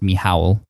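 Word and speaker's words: Michał: his name is I thought his name was Michael but it's pronounced me Howell mich al and it's just like incredibly long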